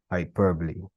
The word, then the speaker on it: hyperbole: So that would be hyperbole.